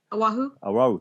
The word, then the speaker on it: Oahu: I have a problem pronouncing the name of that island. Oahu.